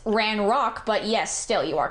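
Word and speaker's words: Ranrok: Well, um you Well, um it's it's ran rock, but yes, still you are correct.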